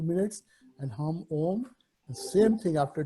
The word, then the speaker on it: Om: Humming with open mouth, we'll try to chant Om. Stress the first part of Om, and the Ma will, when we close the lips, it will become Ma.